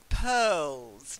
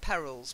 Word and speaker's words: pearls: not the next one Pearl's not perils pearls pearls of wisdom pearls are a precious